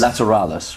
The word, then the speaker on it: Lateralus: this new LP how do you say it lateralis is that right lateralis laterales right okay so that's how it's pronounced that's the video I looked up to